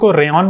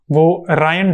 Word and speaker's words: Ryan: Some people pronounce it as "Rayon," but the correct name is Ryan Dahl.